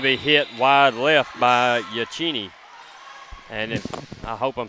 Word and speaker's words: Yachini: That's y a c h i n i. Haley Yachini. Sounds good. And I'm from the South, so I'm just going to say it like it looks.